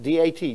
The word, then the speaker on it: dat: which is what hey means and this is pronounced Diaz okay so religion debt d-a-t dat so you see here the D the